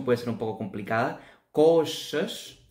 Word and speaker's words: coxas: ser um pouco complicada, coxas, esta X suena como um SH em parte também, coxas.